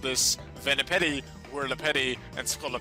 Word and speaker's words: Venipede: to train some venom petty purposely purposefully being mispronounced here i know it's venipede we're lepid sculloped but in the early games of gen 5 my mother pocket jim and i often called this vanipety were le petti and scala petty so normal